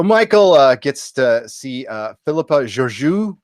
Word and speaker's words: Georgiou: So Michael gets to see Philippa Georgiou. Georgiou, is that how you pronounce it? Georgiou.